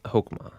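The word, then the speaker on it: חכמה: this and it's called hokuma yeah so the Hebrew word for wisdom is the word you kind of have to clear your throat a little bit in that second syllable yeah so wisdom is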